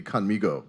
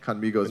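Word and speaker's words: Khanmigo: It's, and you have the best pronunciation of Conmigo, because that was the whole intent, is to be Conmigo.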